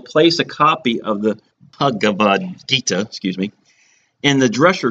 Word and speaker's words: Bhagavad Gita: the third is the the H is silent bhagavad-gita pronounce that right and the Gita's are